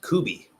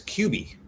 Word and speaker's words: Cubi: I think in America it's pronounced Kubi, but I was corrected by a Filipino telling me it was Cubi.